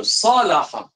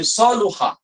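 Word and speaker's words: صلح: Dibacanya salaha. Okey. Ada sedikit perbincangan tentang baris. Tapi banyak dibacanya salaha. Okey, ada yang baca saluha. Tapi banyak yang baca dalam kamus sebut salaha.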